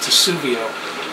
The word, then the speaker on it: Testudo: I've got the max Edition I think it's pronounced tuio uh laptop case and this is an incredible